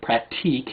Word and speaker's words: Pratique: We hoisted the quarantine flag to request Pratique, or Pratique if you want to pronounce it correctly.